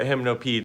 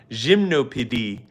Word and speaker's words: Gymnopédie: I think you can't deny the fact that hymnopede is, or sorry, gymnopédie is a massive, humongous success.